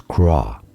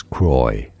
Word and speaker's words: Croix: So depending on the context um you can say it as craw but in English it's often pronounced as croy as in this famous brand of sparkling water.